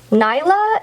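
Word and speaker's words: Nailah: Nyla is what it looks like.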